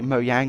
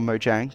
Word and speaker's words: Mojang: a little while ago mo yang actually mo yang or Mojang depending on how you pronounce it / chili held a